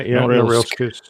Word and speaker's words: Norilsk: Yeah, Norilsk is good. As close as most people get.